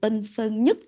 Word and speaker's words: Tân Sơn Nhứt: I remember there was a word that these artists had to practice many times to pronounce, which was the word "Tân Sơn Nhứt" and I feel sad that nowadays, this airport is no longer called "Nhứt" and instead is called "Nhất".